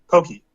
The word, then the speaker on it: poke: and and raw tuna the way that they prepare it is called pokey that's just how it's pronounced yeah and the amount